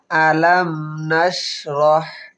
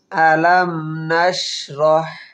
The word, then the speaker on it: ألم نشرح: ألم نشرح হা হলকের মধ্যখান থেকে উচ্চারণ হবে আলাম নাশরাহ। কিভাবে উচ্চারণ করি খেয়াল করবেন। আলাম নাশরাহ রাহ।